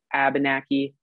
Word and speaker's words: Abenaki: So you might notice that I use the pronunciation Abenaki. Some people say Abenaki, more in Vermont and New Hampshire. It basically depends on where you are from. My family is Quebecois, so I tend to use the pronunciation Abenaki, but it's tomato, tomato.